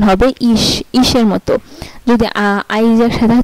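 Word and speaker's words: ich: আচ্ছা, এই যে যেমন আইসিএইচ ইশ, আবার বিইউসিএইচ বুখ, আইসিএইচ ইশ, আবার বিইউসিএইচ বুখ।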